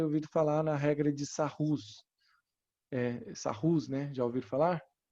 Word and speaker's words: Sarrus: falar na regra de Sarrus. Sarrus, né? Já ouviram falar? Mas se pronuncia regra de Sarri. É francês o cara. Sarri, ele tá aqui, ó. Escreve Sarrus, mas se lê Sarri.